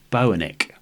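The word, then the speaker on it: Boenicke: never heard of before I think it's pronounced Bo an ik but these are the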